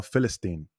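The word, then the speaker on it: فلسطين: árabe la palabra Palestina ellos no dicen Palestina con p sino festin verdad con la f porque en el árabe no existe la la vocal si se puede decir así p no se puede pronunciar en el árabe solamente tienen la expresión del F la pronunciación del F filistea Y ese es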